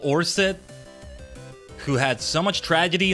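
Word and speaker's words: Oersted: I think it's pronounced Orsted, not Wersted. I'm not sure.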